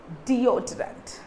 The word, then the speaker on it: deodorant: Okay, deodorant. Deodorant. D-O-D-O-O-H. So remember, if it is O-H, how do you say this? D-O. Deodorant. Deodorant.